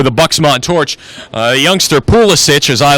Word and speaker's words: Pulisic: to the United States his name's pulisich his name I I agree with Ian dark his name's pulisic because that's how it would be pronounced uh where his family came from but again if you're